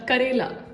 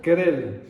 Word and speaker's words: Karela: I'm never going to pronounce that properly. Say it once more. Karela. Kerala.